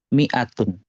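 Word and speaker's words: مائة: bulat iya betul Heeh nah tanda Bulat itu enggak dianggap jadi ini dibacanya pendek Miatun Oh gitu Miatun ya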